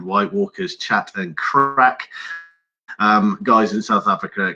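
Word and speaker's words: craic: They're called White Walkers Chat and Crack. Guys in South Africa, crack is spelled C-R-A-I-C.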